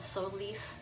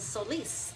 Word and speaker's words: Solis: And I loved that the play on the words was Solis. I'm probably saying it wrong, but I pronounce it with the Spanish accent because I'm Latina.